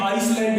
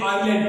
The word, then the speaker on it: island: अब ये ISLAND, ये आइसलैंड नहीं है, ये आइलैंड पढ़ा जाएगा, इसकी सही प्रोनाउंसिएशन है आइलैंड।